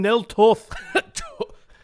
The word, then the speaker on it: Nel Toth: Clan Nel Toth.